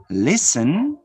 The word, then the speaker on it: listen: fast to the notes the letter t is silent in a few words listen notice listen castle no castle castle listen